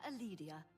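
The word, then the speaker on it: Calidia: I am Aledia, your hostess. She said her last name was Aledia. She didn't pronounce the C.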